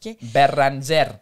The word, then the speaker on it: Bérengère: -The Spanish can't say it, they call me. Because they don't have the French "r". "Bérengère" is too hard.